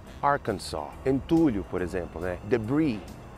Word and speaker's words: Arkansas: O Arkansas aqui também não pronuncia o S. Arkansas, Arkansas.